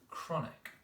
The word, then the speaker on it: chronic: Last one, number 5, was chronic. Now that was a tricky one because there are 2 k sounds, one at the beginning, one at the end. But it's the k sound at the beginning where